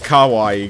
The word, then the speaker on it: kawaii: proper way to say cute ah okay it's kawaii guys but you want to hear what thomas